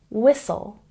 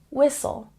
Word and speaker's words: whistle: listen listen listen and here we have two silent letters the H and the T whistle whistle it's not whistle whistle and last but not